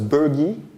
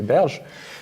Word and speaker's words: Berge: So each time I heard his name pronounced, it was Bergy, but he's actually a French mathematician, Claude Berge, so I think we should say Berge.